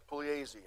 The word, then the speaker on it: Pugliese: Pugliese. Pugliese. I know. I know how to say it. Thank you. The G is silent.